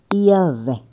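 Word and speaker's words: Yahweh: Eh, pronúncia hebraica, Yahé.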